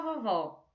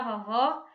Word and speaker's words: vovó: A segunda sílaba você vê que é mais forte, pois fica mais tempo na nossa boca quando a gente fala, não é?